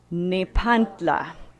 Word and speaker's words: Nepantla: It's spelled Nepantla, Nepantla. And you're welcome to try out this word with me. This is by invitation. We can say it together. It's Nepantla.